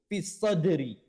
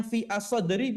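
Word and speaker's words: فِي الصَّدْرِ: Kalau bacanya fi as-sadri boleh nggak? Boleh saja, tapi itu tidak diperkenankan atau sejatinya itu tidak diperkenankan, tidak dibolehkan.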